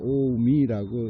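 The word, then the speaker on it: 近江: 오미.에 예, 한자로는 통하지 않는데 그 가까울 근자에다가 강 바다 강할 때 강을 써 놓고서는 그걸 오미라고 읽더라고요.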